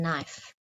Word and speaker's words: knife: and the silent k the silent k as in knife now today we're also